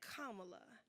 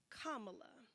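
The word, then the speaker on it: Kamala: Afrocentric ethnic name myself say her name kamla kamla but if you struggle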